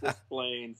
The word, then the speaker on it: Des Plaines: Is that how you say it? Cause I always thought it as like a French word, Des Plaines. Des Plaines. No, it's Des Plaines. Yeah. Des Plaines. That's how it's said.